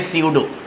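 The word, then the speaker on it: pseudo: अच्छा, फॉल्स के लिए एक नाम है बाकायदा, फॉल्स कहते हैं स्यूडो को, इसको प्रोनाउंस करते हैं स्यूडो, स्यूडो सॉलिड।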